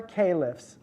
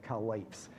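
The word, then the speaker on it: caliph: Muhammad and the other Calif and that's how you say it by the way it's not kelis we English people call it collates ok so calif started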